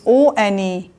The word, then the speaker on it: one: you can see one the spelling of one is o n e and o is a vowel letter so what we are going to write over here if it is sound we just pronounce one once again ver is a consonant sound it is starting with o letter it is vowel letter but its sound is ver so it is considered as consonant sound now now number five